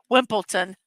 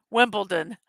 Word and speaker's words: Wimbledon: 65 years old today wimpleton did I say wimpleton I meant when did I say it wrong Wimbledon I probably said it